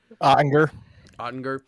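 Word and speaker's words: Oettinger: Jake, is it Odinger? How do you say it, Ethan? Is that it? Ottinger.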